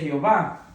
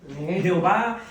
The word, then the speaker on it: Jehová: Jehová viene siendo más a lo latino con las vocales. Si usted se da cuenta, es la pronunciación de lo mismo de Yahvé. Yahwé. Simplemente que le han cambiado las vocales de Edoná, se la han puesto a las vocales de Jehová, Jehová, la e, la